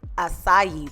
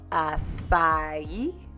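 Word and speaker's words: açaí: Acai. Acai. Yeah, there you go. Acai. I said it wrong, fella. I was like acai, but it's acai berries.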